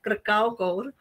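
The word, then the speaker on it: Kracauer: This was followed by Rudolf Arnheim, Siegfried Krakauer, he's often very mispronounced, Krakauer, Bela Belasis.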